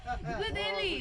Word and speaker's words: Guleli: GULELI, that's good idea. Oh, GULELI. what does that mean? GULELI, uncle. GULELI. GULELI. Is that good idea? You pronounce GULELI. GULELI as good idea.